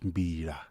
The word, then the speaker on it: mbira: Oh, this an instrument we call it mbira. Mhm. Yeah. So when I say mbira, I'm saying it wrong. Yeah, mbira. You must have an LA at the end.